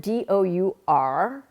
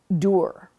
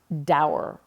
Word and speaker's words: dour: And, it's the word D-O-U-R, which means sort of grim, you know, unfriendly. And it is pronounced dour, like rhyming with tour, not dour, rhyming with sour.